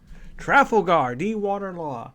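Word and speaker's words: Trafalgar D. Water Law: as you can tell by the title is trifle Guardi water law yes that's how you pronounce his actual name yeah I have to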